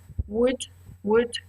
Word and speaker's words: would: o u l d the spelling is complicated but the pronunciation is quite simple would notice would okay so repeat after me would would good good and the